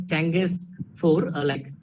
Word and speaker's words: Chang'e: So it's pronounced as Chang'e 4, or what it changes 4 moon lander.